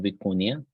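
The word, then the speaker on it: vicuña: a model called stable viconia this is spelled vicunia with a little cap on top so it's Spanish pronunciation but some people spell it with an eye after n in any case it is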